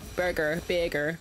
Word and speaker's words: Birgir: Birgir is how you pronounce his name.